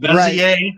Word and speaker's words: Bezier: And George J. Cormier that rhymes with Bezier.